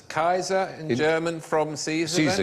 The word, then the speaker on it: Caesar: we watched Cesar settle Kaiser said yep it's Kaiser the German from CC so yes it is